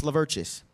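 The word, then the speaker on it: Lovthus: It's pronounced Lvertus. If you think about it too hard, you're going to think there's a lot of missing letters. There's no R, there's no A.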